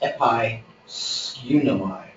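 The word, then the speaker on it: ἐπαισχύνομαι: I have to think about how this is pronounced. It's episkunomai.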